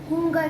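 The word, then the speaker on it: Hunger: और हुंगर, हंगरी को हुंगर कहते हैं। हम स्पेलिंग में तो हंगर लिखते हैं, जैसे हंगर लिखते हैं वैसे, बट उसकी प्रोनाउंसिएशन हुंगर होती है।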